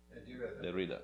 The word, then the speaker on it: Derrida: Derrida, there you go.